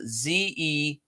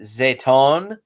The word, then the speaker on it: Zetton: favorite monster well I'm not really sure how it's pronounced it's spelled z-e-t-t-o-n I've heard it pronounced zetton um I've heard it pronounced zetone um I've heard it even pronounced zetton I prefer ziton um I just think that rolls off the tongue best zetan um yeah all